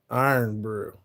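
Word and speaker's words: Irn-Bru: Pronounced Iron Brew.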